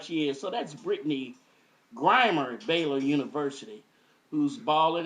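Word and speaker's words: Brittney Griner: I was calling her Britney Grimes. Somebody brought that to my attention. So, we don't we don't want to mis uh pronounce the player of the year in women's basketball, college basketball. Mispronounce her name, especially when she balling like she is.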